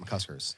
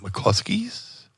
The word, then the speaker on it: McCusker's: People like to put an L in there. Mm. People like to call it McCluskey's, McCluskers.